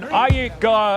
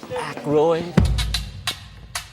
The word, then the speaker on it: Aykroyd: Chevy Chase, Gilda Radner, Dan Iyek. How the do you pronounce this? Aykroyd.